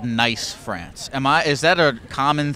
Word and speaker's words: Nice: I thought it was called Nice France. Is that a common thing or am I stupid? That's how that it's spelled, but it's Nice. Okay. Yeah. In the French language.